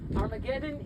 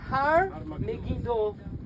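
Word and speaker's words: הר מגידו: Armageddon is a mispronunciation. In Greek, Har Megiddo, Armageddon. Okay, it's like Capernaum is Kfar Nahum.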